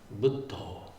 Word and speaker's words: Buddho: If you ask a Thai person sort of to pronounce the name of the Buddha, they'll say Buddho, which is much closer to the Pali.